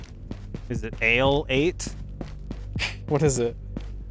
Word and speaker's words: Ale 8: It's a Kentucky only soda and it's not Ali 8. Is it Ale 8? What is it? A-L-E-8. Do you have to spell it?